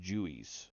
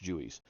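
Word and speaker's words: Juwes: Jubellum, known jointly as the Jew Jewies, pronounced Jewies. It says pronounced Jewies.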